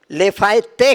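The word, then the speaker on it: Lafayette: लेफायते कहते हैं, टी है, पर वो टी का उच्चारण नहीं करते, लेफायते कहते हैं।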